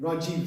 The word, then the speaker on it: Rajeev: like a short but if it's going on the right that becomes a long e so for example like for example my own name Rajiv some people would say